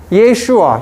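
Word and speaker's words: ישוע: 예슈아. 히브리어로 예수는 Jesus. 예수를 예슈아라고 해요.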